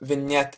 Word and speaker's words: vignette: to vignette so what vignette is yeah it's it's pronounced like that I know it's weird so when yet is